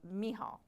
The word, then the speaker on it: Michal: But anyway, we're going to go over a biblical example called of Michal.